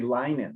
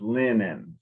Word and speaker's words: linen: rule it should be lining but it isn't it's pronounced like there's two n so it's linen so very good you